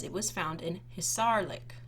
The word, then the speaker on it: Hisarlik: So underneath there it says it was found in Hisarlik. I think I pronounced it wrong the first time. Hisarlik, it's a funny word.